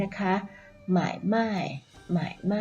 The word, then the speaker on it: 卖: ตัว นี้ นะ คะ ออก เสียง นะ คะ ว่า ม่าย มั่ว ๆ ไม่ เป็น